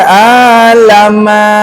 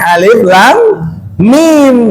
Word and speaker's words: Alif Lam Mim: Maka tidak kita baca alama. Enggak gitu. Ya, kita baca alama gitu. Bacanya alif lam mim. Kita baca utuh.